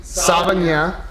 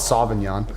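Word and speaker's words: Savagnin: Jur uh okay is made exclusively from a pusard b truso c savan. It's that's spelled s a v a g n i n. So not sinan and d shasala.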